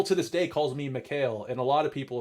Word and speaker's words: Mikhail: probably pronounce my name Mikhail. So a lot of my friends growing up, my name is Mikhail. Like the Hail is actually not pronounced like hail. It's more like L.